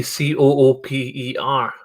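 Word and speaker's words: Cupar: cooper cooper to me c-o-o-p-e-r what where are you from is it not par or something when i say cooper is spelled c-u-p-a-r and that's not to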